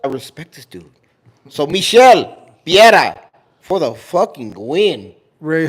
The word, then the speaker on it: Michel Pereira: So Michel Piera for the fucking win.